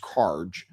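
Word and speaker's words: Kharg: We're talking about Karj Island, which I believe it, like I said, is pronounced Karj.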